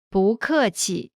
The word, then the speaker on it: 不客气: When 不 is followed by a fourth tone, its tone changes from the fourth tone to the second tone. Listen to the pronunciation again. 不客气， Next is 客气， courteous.